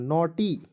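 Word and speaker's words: naughty: हो जाएगा दोस्तों उच्चारण नोटी नोटी मीस क्या होता है दोस्तों नटखट ठीक है और देखिए इसमें जीएच को साइलेंट रखना है दोस्तों समझ गए जीएच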